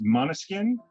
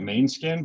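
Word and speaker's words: Måneskin: i'm pronouncing it right it's monoskin it's like spelled m-a-n-e skin so it looks like main skin but it's mono skin um and i guess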